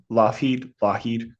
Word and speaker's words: Lougheed: I think that's how you pronounce his Mm. name, Lougheed, not to be Lucky.